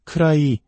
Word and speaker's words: could I: 쿠드 아이라고 또박또박 발음하면 무척 어색하게 들립니다. 디사운드가 모음과 모음 사이에 오면서 우리말의 리을 받침과 유사한 부드러운 소리로 변합니다. 그래서 크라이 혹은 크라이게처럼 들리게 됩니다.